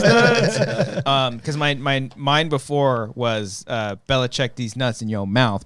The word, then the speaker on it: Belichick: It's Belichick D's nuts.